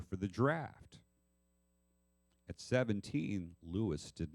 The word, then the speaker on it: Louis: Well, first of all, the sergeant that filled it out wrote Louis phonetically, but that at least tells us that that's how he heard it. Louis. He said Louis.